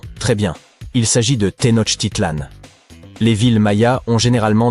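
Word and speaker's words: Tenochtitlan: Il s'agit de Tenot Titlan. Les villes Maya ont généralement des noms difficiles à prononcer comme Yaak Shilan.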